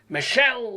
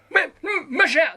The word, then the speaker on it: Michele: But you also pronounce, even though there's an accent on the first E in Michele, you have to do the I thing, like Michele LaRue. Why is that? Michele.